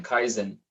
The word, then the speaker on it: kaizen: start improving it k a i z n kaizen that's how you spell it it's cons japanese principle philosophy they just